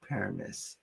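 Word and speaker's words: Paramus: Is that how you pronounce it? Paramise. Paramise.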